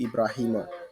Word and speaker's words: Buraima: So uh ra- it's it's pronouncing Ibrahima. So but here is the French writing. French people call it like that.